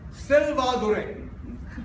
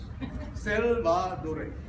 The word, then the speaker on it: Selvadure: But the biggest problem I have in Milltown is that nobody can pronounce my name properly. I mean, I am Selvadure. Only four syllables. Selvadure.